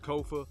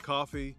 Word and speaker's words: Kofa: podcast I'm your host Kofa k-o-f-a not coffee not Khufu not Kofi or any variation there of Kofa rhymes with sofa it's easy to say